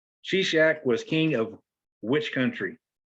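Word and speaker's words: Shishak: here's your bonus question sea shack was king of which country now this is the one that's spelled s-h-i-s-h-a-k she-shack was king of which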